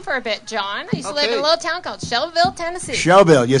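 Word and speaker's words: Shelbyville: gone with him for a bit John Tennessee she'll bill you said it right in the Shelby Oh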